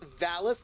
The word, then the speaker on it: Vallus: And it's Vallus, not Phallus, but he's still a dick.